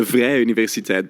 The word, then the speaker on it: Vrije Universiteit: It's the Vrije Universiteit Brussels, so the Free University of Brussels.